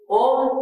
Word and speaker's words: ओम: और ये ओम 3 अक्षर से बना हुआ है, अ, उ और म।